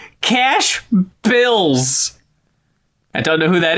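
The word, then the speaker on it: $CA$H BILZ: It's spelled $CA$H capitalized BILZ. Cash Bills.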